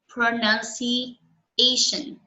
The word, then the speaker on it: pronunciation: So in the word pronunciation, do you know which part of the word is stressed? Pronunciation. Pronunciation. C. Actually, it's the A.